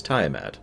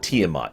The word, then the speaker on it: Tyat: it wrong no no his name is tyat not tiat timeat is actually the